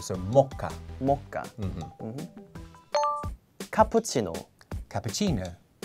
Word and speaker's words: mocha: More on the first syllable. So, mocha.